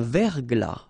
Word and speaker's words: verglas: Un verglas. Final S not pronounced.